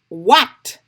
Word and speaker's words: what: Si vous avez écrit mot what, vous avez besoin de dupliquer WH là. Là ou ka ouais, H là pas prononcé mais li la faut mettre.